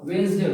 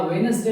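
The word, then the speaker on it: Wednesday: वेडनेसडे यहां पे D silent है। अक्सर लोग वेडनेसडे बोलते हैं या वेडनेसडे बोलते हैं। यहां पे डी साइलेंट है। जैसे हम इसका प्रोनाउंस करेंगे तो ये डब्ल्यू ई यहां पे एन पे हम यहां पे स्ट्रेस डालेंगे जोर डालेंगे एफेसिस तो ये पढ़ा जाएगा वेडनेसडे।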